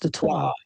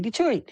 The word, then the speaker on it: Detroit: So you know, people are, because like even like Detroit technically is French and it's supposed to be pronounced Detroit, but we say Detroit, so it's not really pronounced right.